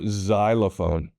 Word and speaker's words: xylophone: Things like Xeon or xylophone. So if you see an X at the beginning of words, and there aren't a lot, but there are some, it most likely is making a Z sound.